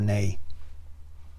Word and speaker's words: nay: In traditional parliament, yes or no is traditionally pronounced, I believe in the US, only as a or nay.